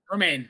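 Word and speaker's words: Rebecca Romijn: Remain. Okay. Remain. That's always said, but then I look how it's spelled and it's like, I no. know. Yeah, Rebecca Romaine, Punisher, then X-Men First Class, Rebecca Romaine cameo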